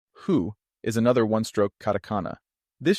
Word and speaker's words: ふ: It's important to remember that hu is not pronounced as the F sound, since Japanese doesn't have an F pronunciation.